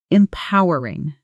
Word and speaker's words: empowering: Stress on the second syllable and po sounds exactly like the word po like a comic book sound effect. Practice with me. Empowering in a sentence.